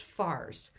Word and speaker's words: Fars: of the persian empire known as pars or sometimes pronounced fars this pars far's root